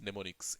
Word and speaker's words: mnemonics: Okay, we call them as mnemonics. M is silent over here.